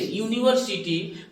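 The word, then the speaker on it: university: यू से, कि नहीं, लेकिन ये यू वॉवेल है, बट जब आप इसका प्रोनाउंसिएशन कर रहे हैं तो जो आपका साउंड आ रहा है वो यू का साउंड क्या आ रहा है, यू, यूनिवर्सिटी, यानी यू आ रहा है इससे, यूनिवर्सिटी, तो य आया।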